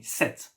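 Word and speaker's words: sept: pronounce it like me set and not set even if there is a p we don't pronounce it set set all right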